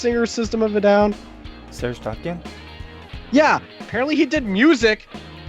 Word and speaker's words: Tankian: Serge Tankian?